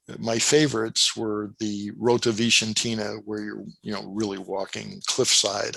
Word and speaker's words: Vicentina: I called it Rota Vincentina, but apparently that's the wrong pronunciation. Vicentina.